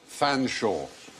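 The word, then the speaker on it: Featherstonehaugh: the top one how would you plan sure Fanshawe yes do you know that was Chumlee Corey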